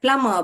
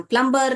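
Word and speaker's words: plumber: यस बहुत बढ़िया प्लम इसमें बी जो है साइलेंट है बेटा बेटा तो साइलेंट वर्ड भी हम बाद में पढ़ेंगे लास्ट में। अगर इतना जान लीजिए इसमें जब हम पढ़ प्रोनाउंस करते हैं तो साइलेंट होता है। प्लम बोलते हैं हम।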